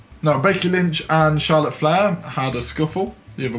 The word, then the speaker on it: Flair: got becky lynch versus charlotte fair freight fair fair flare flair silly boy say it properly we've got the smackdown